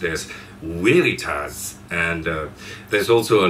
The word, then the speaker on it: Veritas: is actually from a Latin word which is pronounced as weitas and uh there's also a line that says